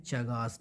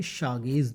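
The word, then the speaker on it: Chagas: बट इसका जो actual pronunciation होता है इसको बोला जाता है शागेज डिजीज। अगर मैं हिंदी में लिखूं तो इसको शागेज डिजीज पढ़ा जाता है।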